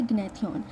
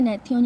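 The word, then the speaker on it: gnathion: इसके बाद हमारे पास आता है ग्नेथन। ठीक है? नेथ्यन या ग्नेथन बोल सकते हैं। जी मोस्टली साइलेंट होता है।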